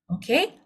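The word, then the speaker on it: 어: Oke, walaupun dia tulisannya EO, tapi bacanya O. Jadi kayak huruf O, cuman mulut kita harus buka lebih lebar ya.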